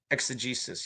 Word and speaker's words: exegesis: Dave, pronunciation is correct. Okay. I'm guessing exegesis. I said exegesis.